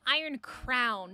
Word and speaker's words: Iron Crown: Zoe, I think you mean Iron Crown. Not groan, but Iron Crown. I'm pretty sure it's spelled this way.